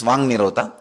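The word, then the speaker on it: वाङ्निरोध: That is what is called Vang Nirodha. Vak Nirodha only, when you pronounce it becomes Vang Nirodha.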